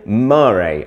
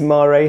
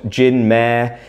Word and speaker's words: Gin Mare: the wonderful gin murray i am fairly certain that it is marie how it's pronounced it's not jinmer it's not jyn ma i don't think but if anyone wants to get in touch and correct me feel free to do so